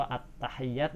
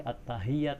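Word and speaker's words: التحيات: Seperti contoh at-tahiyyat itu hak kecil, gak boleh at-tahiyyat, gak boleh. At-tahiyyat, hak itu di tenggorokan paling atas.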